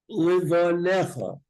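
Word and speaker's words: לבניך: Shinantam Livanecha. You don't pronounce that yud. The rule is any letter in the middle of a word that doesn't have an akuda is silent.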